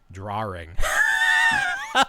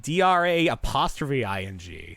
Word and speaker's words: drawing: Drawing sounds wrong. It sounds like DRA''ing. You got to get the W. Drawing. I'm saying it right. You guys are saying it wrong. Wing. Draw wing. That's what the word is.